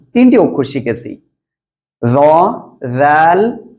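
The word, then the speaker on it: ذال: তাহলে এই অক্ষরটা কি জ্লিয়ার আপনি ওকে এখন আমরা এর পরবর্তী অক্ষরটি শিখবো ইনশাআল্লাহ ঠিক আছে দেখেন এই যে অক্ষরটি এই অক্ষরটি কি জাল জিহ্বার আগা এই উপরের দুই দাঁতের আগার সাথে লাগান লাগান লাগান এবার উচ্চারণ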